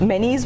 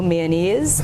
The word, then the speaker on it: Menezes: it wasn't bad enough, Menes was already a challenging name because it's spelled Menezes. So I've gotten, you know, mayonnaise. I've gotten, well, the people from the Spanish-speaking countries would say Menezes. It's really pronounced, so my ancestry is Portuguese.